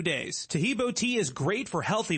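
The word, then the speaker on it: Taheebo: Tahibo is spelled T like Tom, A-H-E-E-B like boy.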